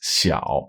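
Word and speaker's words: 小: So this character means small, and it's pronounced xiao.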